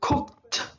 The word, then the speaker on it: cooked: Cook, pakai D jadi ada T bunyinya. Cooked, cooked, memasak.